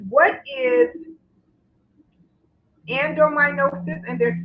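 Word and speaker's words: adenomyosis: and one question says and hopefully i can pronounce this right but it's what is endominosis and they're spelling it a-d-e-n-o-m-y-o-s-i-s and is there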